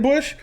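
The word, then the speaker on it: Busch: something her sister Jordan Bush she ain't no shame either go check out the bush sisters you see how it's spelled b-u-s-c-h check them out on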